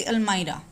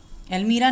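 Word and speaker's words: almirah: एक छोटी सी अलमाइरा, अलमीरा नहीं होता है, द प्रोनाउंसिएशन अलमाइरा.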